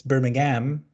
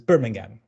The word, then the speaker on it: Birmingham: It's laboratory versus laboratory. And it's Birmingham versus Birmingham.